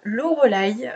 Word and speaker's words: Loreleï: alors moi je m'appelle loreleï prennent un petit peu compliqué a à dire et à écrire donc je dis souvent à mes clients c'est l'eau heureux là y voilà parce que ça